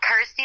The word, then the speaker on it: Kirsty: that it's you know rhymes with my name and helps people pronounce my name correctly so I'm like cool Kirsty like thirsty got ity like thirsty